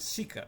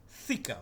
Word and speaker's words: thika: It is actually not sika, it's thika, but he cannot pronounce that. This word thika you can only find in Albanian language, which means knife.